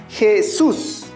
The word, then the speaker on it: Jesús: Jesús. Recuerda que en la palabra Jesús encontramos dos sílabas. ¿Dónde se encuentra nuestra mayor fuerza de voz? En la última sílaba.